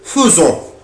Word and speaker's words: faisons: ما بقولش نو faisons غلط. ما بقولهاش في. بقولها feu. faisons. nous faisons. طب هي فين يا مستر الأو؟ قال لي الأ يبنطها أو. يبقى nous faisons, vous faites, ils font, elles font.